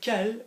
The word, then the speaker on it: quel: So quel will always be as if it's Kelly, K-E-L, but it's quel.